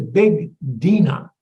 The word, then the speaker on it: Bigdina: The first one is actually pronounced Bigdina. It's a Dutch variety. We Americans have converted it to Big Dina. But if you buy the seed, it's going to be one word, Bigdina.